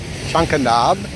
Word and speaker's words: Chankanab: Chanka Nab.